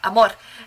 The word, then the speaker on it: AMOR: See, I did it with the accent. That's how you go. You gotta roll your R's. AMOR.